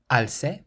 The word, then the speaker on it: alce: So the C is followed by an A, meaning it's pronounced like a K, and this word means staircase. Escalera. How about the sixth word? Alce, alce, or alce, alce.